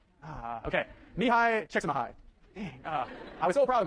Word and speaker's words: Csikszentmihalyi: Csikszentmihalyi? Not Csikszentmihalyi? Okay. Mihai Csikszentmihalyi.